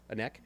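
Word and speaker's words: Anneke: I've heard some great news and rumors about some musicians like Anek from, am I pronouncing her name correct? Anek?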